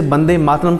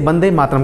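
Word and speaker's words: वन्दे मातरम्: लिए ही होता है वंदे मातरम को मूल रूप से बंदे मातरम प्रोनाउंस किया गया बंगाली भाषा में वह शब्द नहीं है इसीलिए इसे बंदे मातरम कहा गया 1875 में बंकिम चंद्र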